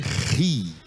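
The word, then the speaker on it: ρ: Só que a pronúncia dela vai ficar assim meio parecida com a letra R em português, tá? Ri, ri, ri. E acompanhada de qualquer vogal vai ser Ra, Ré, Ri.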